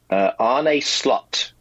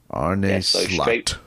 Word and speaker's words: Slot: How do you pronounce his name? Arne Slot. Slot.